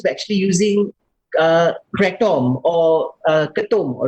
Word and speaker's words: ketum: In Malaysia, it is pronounced as ketum.